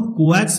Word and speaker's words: coax: इसको हम कोएक्स बोलेंगे, कैसे प्रोनाउंस करेंगे, कोएक्स। इंडस्ट्री में इसको कोएक्स ही बोला जाता है।